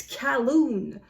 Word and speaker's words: Colquhoun: wanted to talk to somebody named Colquhound. Or perhaps there was no D at the end, but something like Colquhound. And then the pedantic owner says, it's Calhoun.